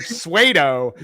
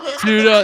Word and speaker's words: pseudo: You just have to pronounce the word pseudo correctly. P-S-U-E-D-O. It does not spell the word Suedo. Okay. Pseudo.